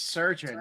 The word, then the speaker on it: chirurgeon: I'm gonna go with the chirurgeon. I can't pronounce that. Surgeon one? Is that how it's pronounced, surgeon? Yeah, it's surgeon, but spelled different.